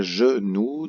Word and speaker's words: genou: va le voir pourquoi genou de syllabes première syllabe jeu deuxième syllabe nous jeu avec un g le j'ai suivi d'un e fait le son jeu suivi de nous no1